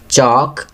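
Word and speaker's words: chalk: नो, यहाँ के silent letter लिखेंगे। चॉक, यहाँ L लिखेंगे।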